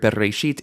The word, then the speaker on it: bereshit: So in this word, bereshit, in the beginning, right? That's the first word of the Bible. Bereshit, and final stress.